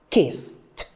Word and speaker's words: kissed: When I'm turning it into the past, we can see that the pronunciation is kissed.